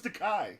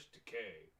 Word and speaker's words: Takei: I thought it was Takei. Now get it right. He always corrects everybody. It's George Takei. You should say my name correctly.